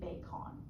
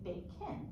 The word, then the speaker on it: bacon: So we have the schwa in that second syllable, because really, if we were to use syllable division, this should be bacon, but we don't say bacon, we say bacon.